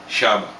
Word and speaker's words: shaba: Gold = Dhahabu Dhahabu = Arabic origin = dhahab Copper = shaba I don't know the of origin of this word, but it's probably Arabic.